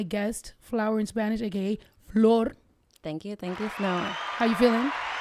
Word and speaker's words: Flor: Thank you for saying my name like that. What? Yeah. With the floor. I grew up people being like floor like the floor, you know.